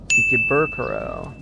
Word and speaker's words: Ikebukuro: It wasn't until today we actually had the chance to get out of Ikebukuro. That is not how you say it. Ikebukuro What the?